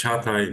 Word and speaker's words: Çağatay: So, Jagate, am I pronouncing correct? Yes? Yeah, it's very correct. It's Çağatay, but it's hard to pronounce in Turkish as well.